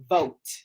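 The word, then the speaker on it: Vogt: his name is Stephen vote so even though it's v o GT you want to pronounce the G in that but the g is silent so it's actually Pro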